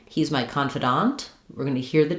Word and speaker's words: confidant: So for confidant versus confident, the difference here is that in confident, we stress the con syllable. In confidant, we stress the dant syllable.